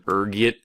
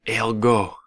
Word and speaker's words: ergot: There's a few different ways you can pronounce it depending on your social standing, ranging from ergit to elgo. Being the disheveled pauper I am, I prefer ergot.